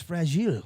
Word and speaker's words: fragile: How do you say fragile in French? Fragile. Oh my god. That's so different. It sounds like much more fragile.